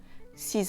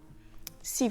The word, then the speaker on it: six: Le X de 6 et 10 se prononce [z] quand il est suivi d'une voyelle: "six amis", "dix amis".